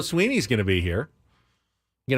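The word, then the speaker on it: Swinney: It's Dabo, as in Apple, Dabo, and I get all kind of pronunciations of that, and it's Sweeney, as in just like E-E.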